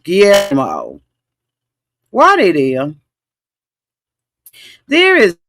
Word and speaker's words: Guillermo: You know how to pronounce his name. Guillermo.